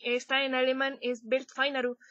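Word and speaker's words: Welt Final: está en alemán es belt finaru se escribe w e l T final Como si escribieras final en inglés pero es Bel finaru Entonces si la pronunciación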